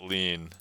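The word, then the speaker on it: lien: as in Jimmy yeah lean to me is like French yeah in uh we use this word in English uh and we pronounce it lean so uh sorry in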